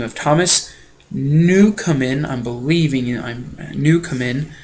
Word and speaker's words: Newcomen: Newcomen is how he pronounces his name.